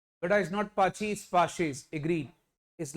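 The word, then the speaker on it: Paasche: वरना बच्चे ऐसे भी, सर पाची, बेटा इज नॉट पाची, इज पाशेस। एग्रीड, इज लस्पाइरिस एंड पाशी। याद रखना, या पाशेस बोलते हैं।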